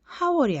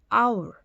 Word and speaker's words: hour: HOUR이 되면요. 얘는 howl이 아니죠. 어떻게? our. 그러면 얘는 앞에 h가 묵음이 되는 거예요. 즉 발음이 안 난다는 거죠. 그러면 얘는 OUR로 발음이 됩니다.